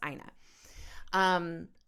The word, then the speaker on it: Ina: Her name is pronounced Ina.